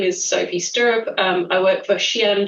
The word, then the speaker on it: Sophie Sturup: As you say my name is Sophie Sturrup.